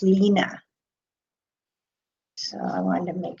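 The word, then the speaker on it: Line: Because I know someone who's from Denmark, and her name is spelled L-I-N-E, but it's actually pronounced Lena.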